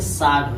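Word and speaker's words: sword: यस के बाद डब्लू आया है तो डब्लू का हो जाए साइलेंट हो, जैसे साड हो जाएगा, साड।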